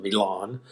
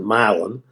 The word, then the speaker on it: Milan: town uh in Tennessee mil Tennessee you would pronounce it Milan but in Tennessee they pronounce it milin uh and actually my father when I was